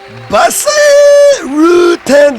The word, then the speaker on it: Bas Rutten: Bas Rutten, yes, that's exactly how they pronounce my name, very strange.